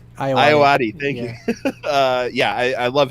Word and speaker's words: Ayoade: I honestly, that's the first time I've heard his last name pronounced. Could I get that one more time, James? Ayoade. Iowati, thank Yeah.